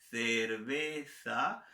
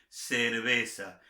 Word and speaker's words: cerveza: Repito, me gusta la cerveza, pronunciación española, cerveza, pronunciación latinoamericana, la mía natural, cerveza.